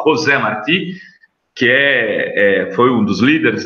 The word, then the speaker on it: José Martí: Eu não sei o endereço, mas se eu colocar, se escreve José, mas se fala José Martí, que foi um dos líderes da independência de Cuba, tem um centro aqui em Santos.